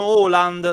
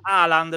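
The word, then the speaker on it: Haaland: in realtà si pronuncia con doppia a si pronuncia Orus Orus ocus e invece tanti dicono holand sbagliando perché aland l'ha detto proprio lui e lui si pronuncia aland perché è Natti in Inghilterra Quindi tutti voi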